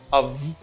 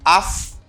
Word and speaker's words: of: Even you see the letter F, okay? You see the F here, but you pronounce a V sound, like a V sound. C'est un son V qui gagne, même là c'est un F qui écrit là. You don't say af, you say av.